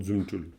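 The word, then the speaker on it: རྫུ་འཕྲུལ: Donc zumul on prononce très souvent zumul.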